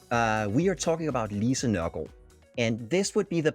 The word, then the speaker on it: Nørgaard: And a double A in Danish turns into an O, which makes it a gård and not a guard.